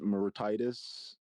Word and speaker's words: Mauritius: Uh, Maurice Mauritius. Where? 42. Mauritius? Oh, that's how it's pronounced.